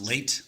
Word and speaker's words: Leite: So, I it's actually pronounced late, like late for an appointment.